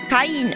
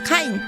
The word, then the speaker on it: Kain: Cain from the Bible doesn't necessarily mean it's pronounced Cain. It could be pronounced Kain. This is what I'm trying to get across. Especially in this era of game making. They didn't... Yeah, so it's Kain, right?